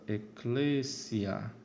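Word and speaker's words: ecclesia: Então, nós temos a palavra eclésia, onde a penúltima sílaba é breve. Logo, a antepenúltima é que é a tônica.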